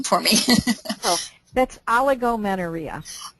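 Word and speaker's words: oligomenorrhea: was the long cycles and maybe you can pronounce that name for me oh that's aligo menaria aligo menaria okay yes and from my understanding that's when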